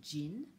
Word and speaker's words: jean: You say it with the same J as we use in English. Un jean is a pair of jeans.